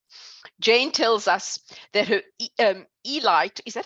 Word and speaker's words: Eli: Jane tells us that her Eli, is that how you say it, Eli?